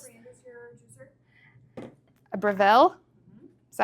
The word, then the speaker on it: Breville: a Breville. Is that how you say it? Breville.